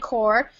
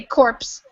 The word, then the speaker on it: corps: So this is we don't say the P or the S. We just say corps. You might hear somebody say corpse, but that's not really how you say it.